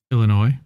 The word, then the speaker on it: Illinois: again with a strongly worded letter Sor where Illinois where ski where sorry you were mispronouncing that state you know you are Illinois